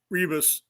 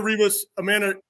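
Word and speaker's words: Ribas: Amanda Rebus, we don't pronounce the R because it's Portuguese, but I have trouble with that when I'm looking at it on paper.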